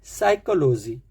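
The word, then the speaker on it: psychology: जैसे first word है साइकोलॉजी साइकोलॉजी साइकोलॉजी पी से है जबकि साइलेंट फिज जो होता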